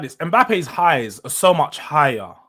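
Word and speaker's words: Mbappé: Mbappe's highs are so much higher than Isak's size.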